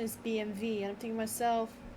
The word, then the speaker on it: BMW: Yeah, so the Germans pronounce their W's with a V.